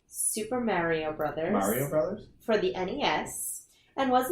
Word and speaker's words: Super Mario Bros.: How is that pronounced? Super Mario Bros. Mario Brothers?